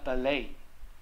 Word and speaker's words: ballet: 好，芭蕾叫 ballet，好，那因为一在字尾呢，在法语的字尾都不发音，所以他念 ballet，那个 e 呢会稍微一点 ballet dancer，芭蕾舞蹈 b